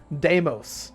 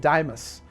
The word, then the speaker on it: Deimos: my let's play thing I was like fobos and damos but apparently they're pronounced Fobus and Imus correctly although I you know